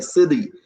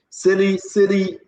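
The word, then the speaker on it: Sele: Now you know, S-E-L-E, S-E-L-E, S-E-L-E, Sely. We will put his picture up, Julius Sely. Sely, pronounce it S-E-L-E.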